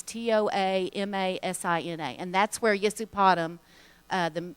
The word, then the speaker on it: Toamasina: Over on the east side of Madagascar is a town called Tomasina. It's Toamasina, and that's where Yesupadam,